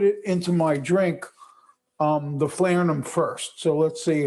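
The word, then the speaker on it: falernum: How do you pronounce it? Flarenum.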